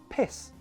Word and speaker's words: piss: Long E for peace. Short I sound for piss.